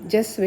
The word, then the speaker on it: cezve: ഈ പാത്രത്തിൻ്റെ സ്പെല്ലിങ്ങും ഉച്ചാരണവും തമ്മിൽ വലിയ ബന്ധവുമൊന്നുമില്ല. എഴുതുമ്പോൾ CEZVE എന്ന് എഴുതുകയും ജസ്വ എന്ന് പറയുകയും ചെയ്യും.